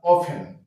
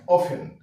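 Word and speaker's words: often: আছে টি এন তাহলে টি এর উচ্চারণটা হচ্ছে না তাহলে বলবো আমরা অফেন হ্যাঁ অফেন তারপর গ্লিসন টি এর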